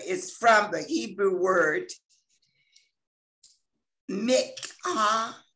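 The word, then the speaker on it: minchah: And I want to say that the word offering here is from the Hebrew word mikhah. It's spelled M-I-N-C-H-A-H, and it means a gift, a present, a thanksgiving, or it could be an offering, a tribute.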